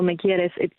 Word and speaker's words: Me Quieres: It's pronounced Me Quieres, which means you love me in Spanish.